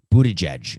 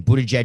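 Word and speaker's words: Buttigieg: uh pete mayer pete whose last name i always pronounced wrong buddha judge may be his name they are doppelgangers try saying bootage and doppelgangers together five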